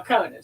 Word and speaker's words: Conan: Okay, Conan says, also, yes, it's pronounced like Conan O'Brien. Okay. So, or Sir Arthur Conan Doyle. He thinks highly of himself. Good for you. Oh, hush. But no, Conan.